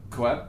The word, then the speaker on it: Koepp: Once again, the stakes were high for me because it's David Koepp? I say David Koepp. Koepp, yeah. David Koepp. Yeah. I always think it's kept, but I don't No, know you're for probably sure.